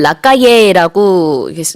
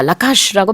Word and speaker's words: Lacalle: 그리고 이제 그 한글 기사에는 보면은 라카예라고 그 이름이 쓰여 있습니다만 제가 그 미국 뉴스를 여러 개 이제 찾아서 봤는데 거기서는 다 라카슈라고 발음을 하더라고요.